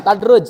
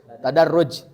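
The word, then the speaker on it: تدرّج: merak itu tadruj nah ini dibacanya Bukan tadruj tapi tadaruj artinya bertahap belajarnya tahapan ya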